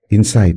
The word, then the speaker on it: insight: Mungkin ini kata-kata yang sering diucapkan nih insight. Inside-nya gimana gitu padahal insight itu adalah sesuatu yang sulit terlihat dan apa?